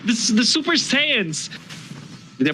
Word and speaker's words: Saiyans: This is like the Super Saiyans. Did I pronounce it correctly? The Super Saiyans. Yes. Or Saiyajins, whatever.